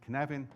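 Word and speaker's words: Cynefin: it the first time it is cannabin right it's easy if your Welsh because it's fanatic we just have a different alphabet right um can having a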